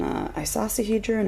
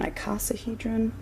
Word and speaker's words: icosahedron: This is an isosahedron or an icosahedron. I hear that pronounced both ways.